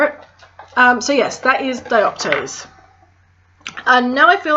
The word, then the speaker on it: dioptase: This is dioptase. This is the last one I was asked to pronounce for you.